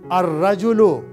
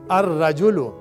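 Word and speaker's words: الرجل: Rajulun, a man, ar rajulu, the man. Ab yahan zara note kar lijiye, ra ke upar lam silent ho ja raha hai, ar rajulu.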